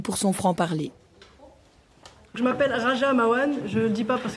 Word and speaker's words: Rajae Maouane: Molenbeek connu aussi pour son franc-parler je m'appelle Raja mawan je ne dis pas parce que j'ai peur